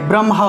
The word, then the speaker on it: ব্রহ্মা: ব্রহ্মা উচ্চারণ করব, মটা আগে আসবে, কারণ ম হলো একটি স্পর্শবর্ণ, আর স্পর্শবর্ণ বর্ণগুলোর উচ্চারণ আগে করতে হয়, ঠিক আছে, স্পর্শ বর্ণগুলোর উচ্চারণ আগে করতে হয়।